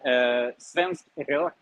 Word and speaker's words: svensk rök: Well, first of all, svensk rök, which is the way to pronounce it.